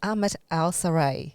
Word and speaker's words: Ahmad Al Sarray: It's Ahmad Al Sarray. Is that right? Yes, it is. Oh, God, I pronounced it correctly.